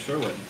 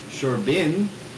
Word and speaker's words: Sherbin: I do not have a wife named Sherwin. I have a wife named Sherbin.